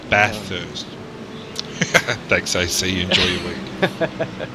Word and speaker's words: Bathurst: Bathurst, not Bathurst. Bathurst.